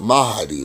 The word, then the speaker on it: Mahdi: That's Mahdi. It's pronounced Mahdi though.